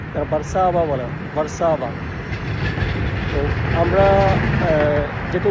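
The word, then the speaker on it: Warszawa: police তারা কিন্তু এটা ওয়ারসো বলে না তারা বারসাবা বলে আমরা যেহেতু উচ্চারণ করি ডবলিউ ওরা উচ্চারণ করে ব্যাটস মিন্স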